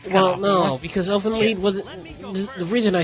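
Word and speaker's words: Elfen Lied: Elfin Lead. The shit straight. Okay, Elfin. Wait, is that here? It's spelled lied. It's pronounced lead.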